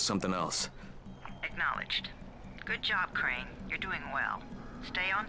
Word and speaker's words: Crane: no my name's crane crane crane rhymes with train and brain and sun and grain